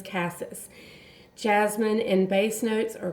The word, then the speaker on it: cassis: I hear many people pronounce cassis as cassis. That is not right. That is cassis.